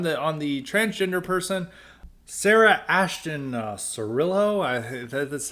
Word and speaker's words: Sarah Ashton Cirillo: on Lira on the on the transgender person Sarah Ashton Cirillo that's how to pronounce it's this person's been a it's been